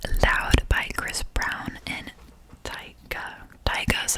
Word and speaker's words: Tyga: is Girl You Loud by Chris Brown and Tyga is how you say her name. Tyga, yeah.